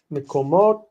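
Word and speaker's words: מקומות: So if we have mikomot, okay, mikomot, this is one syllable because vocal schwa goes with the following syllable, mikomot. Me, ko, break, mot. Okay, so it's two syllables. Meko, which is open, and mot, which is closed.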